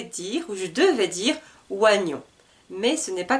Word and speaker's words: oignon: voici l'avant dernier un oignon un oignon alors attention pour le mot oignon parce que c'est l'écriture est très différent de ce que nous entendons un oignon pourquoi parce